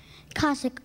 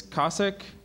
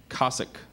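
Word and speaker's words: Cossack: part in Russian expansion kasic are there any alternate pronunciations so there is KK and kasic may have the definition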